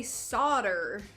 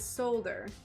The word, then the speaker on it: solder: Well, Americans say solder, and everywhere else says solder.